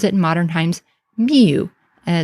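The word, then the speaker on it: miw: is spelled with this sign because we would pronounce it in modern times miu, and it's M-yod-wow, or M-I-W, with the either cat determinative or a tail of an animal determinative.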